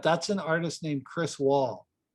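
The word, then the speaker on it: Wahl: But that's an artist named Chris Wall. And Wall is spelled W-A-H-L.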